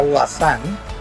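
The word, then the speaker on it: Voisin: mi padre marcel hoy si se escribe se pronuncia washan y fue una una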